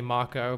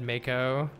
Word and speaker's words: Mako: sector 7 slums I always pronounced it moo in your head I did too I've just converted after I've seen people say Mako but I always said moo I said Aris and